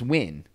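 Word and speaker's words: Nguyen: like n g u y e n Is Win that's how it's pronounced I'll take your word for it so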